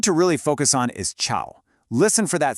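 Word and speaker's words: 潮: The word chao means noisy, but if you just change that dipping and rising tone to one that only rises, it becomes chao, and that means humid.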